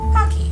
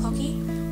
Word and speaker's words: Pocky: Pocky. So, pocky, in Japan apparently they call it pokey, because that's how they pronounce it, but pocky is very